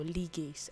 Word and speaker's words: ligase: And of course, we have the restoration, where we considered ligase or ligase as you may pronounce it, which helps to splice together short DNA fragments.